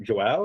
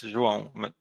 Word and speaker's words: Jan: Okay, let me know if I'm pronouncing your name wrong, but Jah, is that how you say it? Hey, uh, it's Jan, but it doesn't matter.